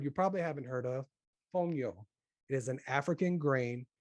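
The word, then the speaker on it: fonio: a new word you probably haven't heard of fongyo it is an african grain it's spelled f-o-n-i-o you'll see it in the description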